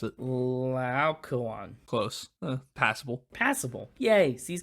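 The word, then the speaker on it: Laocoön: How do you pronounce it? Laocoon.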